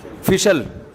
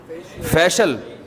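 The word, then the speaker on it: facial: फिशल फिशल फिशल फैशल अबे सही pronunciation बुलवाया करो फिशल ना फैशियल ये अमेरिका से आए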